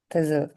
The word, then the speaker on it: thistle: இந்த இந்த மாதிரி உச்சரிப்பு மட்டும் கரெக்டா பாத்துக்கணும். L, talk. Very good. T, D, very good. thistle.